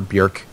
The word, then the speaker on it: Björk: They're so good, which they were all composed by Björk, by the way, or Björk I think it's the correct way to pronounce it.